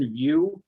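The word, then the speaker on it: Pearson VUE: testing facility called pearson pearsonview um it's spelled p-e-a-r-s-o-n pearson and then view is spelled v-u-e um and those if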